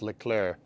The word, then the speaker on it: Leclerc: It's pronounced Leclerc. Yeah. Yeah, dude, all that's going to do is just make me want to say it wrong more. So now it's Legruck.